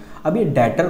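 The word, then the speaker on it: debtor: शामिल होता है ऐसे अगर हम इसे पढ़ें डॉक्टर बट एक्चुअली में बी जो होता है वो साइलेंट होता है इसीलिए हम जो इसे पढ़ेंगे वो पढ़ेंगे डाटर कौन होता है इसके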